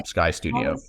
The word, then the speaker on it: Skydeo: So how does Skydeo, am I pronouncing the company name right? That's right. Yeah. Okay. Skydeo.